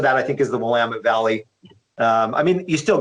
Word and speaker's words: Willamette: ride the dunes yeah yeah is is the willamette valley is am i saying it right the willamette valley willamette willamette okay is that a llama five is